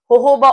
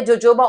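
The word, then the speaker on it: jojoba: आप अप्लाई कर सकते हैं होहोबा ऑयल या जोजोबा ऑयल, जो भी आप इसको कहते हैं, स्पेलिंग यहाँ पे मौजूद है, आप ये इस्तेमाल कर सकते हैं।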